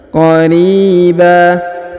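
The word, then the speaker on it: قَرِيبًا: Qariba. Huruf ri dipanjangkan 2 harokat karena di depannya terdapat ya sukun.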